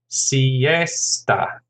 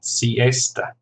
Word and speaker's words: siesta: And then siesta, 3 syllables, stress on the second, siesta.